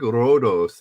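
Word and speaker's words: Ρόδος: I think Rhodos is how you say roads in Greek. If I'm not mistaken.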